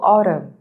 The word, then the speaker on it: autumn: So in N or the N in autumn is silent. We don't pronounce it.